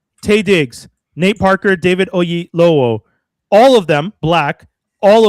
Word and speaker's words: Oyelowo: David Oyelowo.